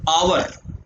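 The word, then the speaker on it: hour: फिर आगे नेक्स्ट है आवर। क्या है? आवर। आवर का मतलब क्या होता है बेटा? घंटा। और ये एच जो है साइलेंट रहता है, किसी भी वोवल से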